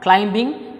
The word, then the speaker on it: climbing: Here B is also silent.